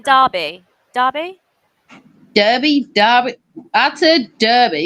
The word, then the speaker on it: Derby: Derby Derby Derby I Derby because it's spelled with a e but it's probably called Derby yeah two and a